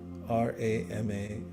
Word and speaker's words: Rama: it out loud and you can see the syllables in your mind's eye r a ma Rama means spiritual strength say it a few